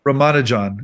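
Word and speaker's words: Ramanujan: can you say his name for the people Roman John is his name Roman John I mean he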